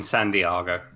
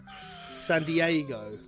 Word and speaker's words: San Diego: I'm joking it's in San Diago San Diego yes San Diego but I was saying it in Ron Burgundy's voice so you're saying San Diago well yes I am he did say it wrong so but I'm just